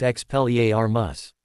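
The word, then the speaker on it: Expelliarmus: I also don't know if you're aware, but the charm is pronounced expelier armas. Not quite sure why you thought it began with an S, but that's okay.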